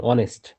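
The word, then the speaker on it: honest: আর এইচটা silent থাকতে পারে, যেমন অনেস্ট, এইচটা সাইলেন্ট, উচ্চারণ দিতে তাকাইতে হবে।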